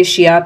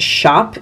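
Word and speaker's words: Schiap: The NARS is, I continue to say Shiop even though I know it's Shop is the correct pronunciation.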